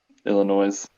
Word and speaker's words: Illinois: Yeah, and for the record, the S is silent on Illinois. Illinois.